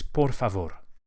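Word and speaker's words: por favor: Please in Spanish is pavore. Each of the rs is lightly flipped with the very tip of the tongue. Porav just behind the front teeth.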